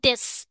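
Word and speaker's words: です: আমার নাম বলবো এবং এখানে বলবো দেস। এখানে দেসো লিখা আছে কারণ এটাকে সু উচ্চারণ হয়।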